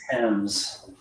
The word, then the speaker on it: Thames: Okay, so the answer to the trivia question is River Thames, Thames, River It's pronounced Thames.